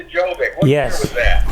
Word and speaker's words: Gjovik: And it was Gjovik, but it's pronounced Gjovik. The G is silent, but that's where the name came.